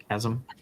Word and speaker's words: chasm: large Chasm chm Chasm Chasm I like Chasm the H is silent the hes sounds like